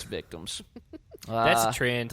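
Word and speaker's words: VCTMS: victims but no i it's just vct ms um are you sure that's what it's supposed to pronounce um they're it's victims it's victims that's a trend like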